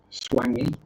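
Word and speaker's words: Swangey: Swangy. Yes. Swangy Lakes. Yes. Pronounced, spelled Swan, Gey.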